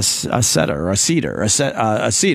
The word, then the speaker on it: seder: If you attend a seder. How right? do you spell it? S-E-D-E-R.